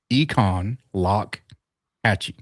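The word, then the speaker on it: Econlockhatchee: Econ lock Hatche. So, if you actually look at the sign and and make it three syllables, it it'll it'll work out for you.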